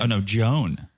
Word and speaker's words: Joan: things oh it's a woman that's you say John the rivers oh no Joan oh Joan Jo well spelled like that but pronounced like Joan okay okay